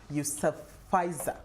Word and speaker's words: Yousafzai: International Malala Day is celebrated every year on July 12th to salute the Pakistani activist, that's Malala Yousafzai. How do I pronounce her surname?